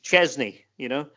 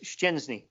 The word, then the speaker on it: Szczęsny: I mean, Arsenal had a goalkeeper in England for a long time whose name for some reason got interpreted as Chesney, and his name is Szczęsny.